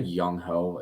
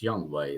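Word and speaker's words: Younghoe: kicker I like young did I say yungho it's young way isn't it I'm pretty sure it's pronounced young way but I like young it's Young hoko no I think it's pronounced young way I could be wrong but I like I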